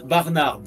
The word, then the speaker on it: Barnard: Alors, effectivement, c'est Christian Barnard. Le d prononce effectivement mais bon, on va l'accepter, on va dire, c'est la même orthographe.